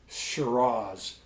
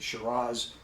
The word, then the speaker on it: Shiraz: If you have not had a good Shiraz from Australia, I don't care how you pronounce it. Shiraz or Shira, it's the identical grape.